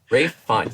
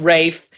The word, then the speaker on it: Ralph Fiennes: Ralph Fiennes.